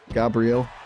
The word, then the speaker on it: Gabriel: With a Brazilian Portuguese pronunciation, it would be more like Gabriel.